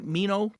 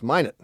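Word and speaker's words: Minot: Our pal Margaret Low Mino No, it's Minet. Well, I know they pronounce it min, but isn't it?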